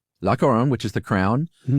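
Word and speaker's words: La Couronne: Uh, how do you pronounce that, Josh? Laoron. Lacoron, which is the Crown.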